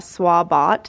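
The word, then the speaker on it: SWBAT: and with my students we call that SWA bot that's how we pronounce it so we'll say SWA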